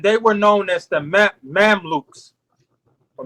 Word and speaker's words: Mamluk: For one, the ancient Kemites had slave soldiers, and they were known as the Mamluks or Mamliks. It's some spell it Mamluk.